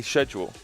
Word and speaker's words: schedule: How do you say schedule? I don't say it that way. Okay, that might be the one that people have more problems with. Schedule, we do a hard K sound for that.